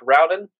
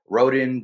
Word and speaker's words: Rowden: I'm sitting down with Dominic Rowden is that pronounce that right did I get it right yeah all right you're actually the first person to pronounce it right most time they call me rhen Dominique and all that